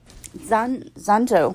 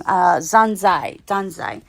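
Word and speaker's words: Dazai: You kind of get a backstory about Zanjo. I think that's how you pronounce it. Sorry, I was pronouncing it wrong. Danzai.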